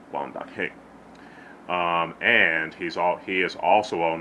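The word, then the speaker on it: 關德興: Especially the black and white Wong Fei Hong films starring the late great Wang Da-king, Quan Ta-king, for us English speakers, but it's pronounced Wang Da-king.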